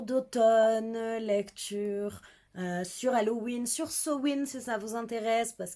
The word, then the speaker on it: Samhain: C'est la catégorie où il faut lire des livres avec les mots-clés Halloween, Samhain, ça s'écrit sa main, mais ça se prononce Samhain, et l'automne, évidemment.